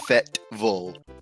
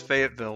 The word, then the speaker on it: Fayetteville: University of Arkansas resides, I call it Fayetteville. Apparently, it's pronounced Fetville. That is fucking weird. Yeah, I always saw it as Fayetteville.